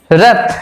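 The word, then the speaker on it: wrath: র্যাথ, র্যাথ মানে হচ্ছে রাগ বা ক্রোধ, ডব্লু আর এ টি এইচ, দেখো এখানে ডব্লুটা বাদ দিলে কি হবে, র্যাথ আর এ টি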